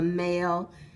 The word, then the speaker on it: mail: AI, two letters together, letter team AI, saying the long A sound when A says its name.